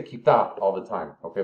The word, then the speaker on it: quizás: But they say quizás all the time, okay? The pronunciation, because it's Castilian, they don't say quizás, they say quizás, or just quizás.